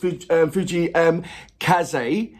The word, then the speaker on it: Fujii Kaze: So this particular artist, Fuji Kaze, as I've been told that's the way how it's being pronounced, so thank you very much for that.